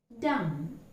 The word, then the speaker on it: dumb: Dumb. Again, in the articulation of this word, we never pronounce the sound B.